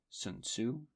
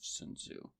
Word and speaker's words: Sun Tzu: historical comparison is um the ancient chinese figure sun tzu s-u-n-t-z-u um or i think some pronunciations are soon wolves and see there are